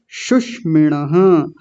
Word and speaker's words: शुष्मिणः: तालव्य शकार मूर्धन्य शकार आप जानते हैं बहुत अच्छे से, दोनों का अलग उच्चारण आना चाहिए। तो शुष्मिणः नहीं शुष्मिणः, छोटा ऊ है जल्दी बोला जाएगा, शुष्मिणः।